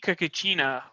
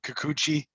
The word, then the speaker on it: Kikuchi: UC Kakachina just butchered the name. That was brutal. Practiced that before the show. Didn't say it for the past 40 minutes. So isn't it you say Kikuchi?